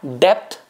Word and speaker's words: depth: could be experiencing that depth in your existing relationship. My pronunciation, it's not the death, D-E-A-T-H, it's the D-E-P-T-H, depth.